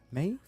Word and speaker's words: Maeve: Talking to Maeve. Maeve? Yeah, that's how you pronounce it.